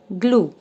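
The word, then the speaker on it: glue: Silent ग्लू ग्ल्यू यू तो ये यू अपनी आवाज देगा। ई आवाज नहीं देगा। यह इ आवाज नहीं देगा और यह कन्वर्ट हो जाएगा इसमें ग्लू।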